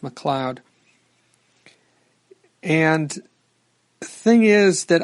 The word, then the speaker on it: McLeod: I might have mispronounced it and said McLeod just because of the way it's spelled. That's kind of how it looked, but I'm pretty sure it's pronounced McLeod.